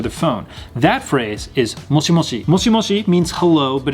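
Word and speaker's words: もしもし: People will also pronounce this as moshi mosh, so you don't necessarily say moshi moshi. Sometimes you say moshi mosh.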